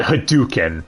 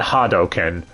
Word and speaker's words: Hadouken: stupid yeah they call it hadouken not hadoken but hey they got shadowloo pronounced correctly yeah with the games they're more